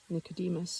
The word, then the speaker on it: Nicodem: As they were walking toward the house where their great grandson Nicodem was waiting for them, um, pronounced footnote pronounced Nicodem, a Russian name corresponding to Nicodemus in the Bible.